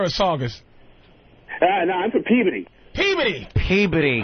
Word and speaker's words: Peabody: No, I'm from Peabody. Peabody. Peabody. Right, Peabody. It is what it is. That is Revere and Saugus, you tricky bastard. People kill me. I'm from Peabody.